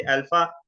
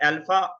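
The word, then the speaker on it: alpha: जैसे अल्फा है तो फादर के अंदर आ, फा, फादर, फादर, तो आ की साउंड देगा ये अल्फा, फादर।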